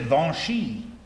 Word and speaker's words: Vinci: That marvelous line by Mark Twain, he says, they spell it Vinci. They pronounce it Vinchy.